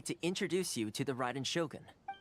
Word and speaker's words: Raiden Shogun: It's pronounced Ryden Shogun. I've always thought it was Raiden Shogun, but Raiden Shogun sounds cooler, doesn't it?